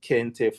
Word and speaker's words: kente: Those are called kente fabric. Kente is spelled K E N T E.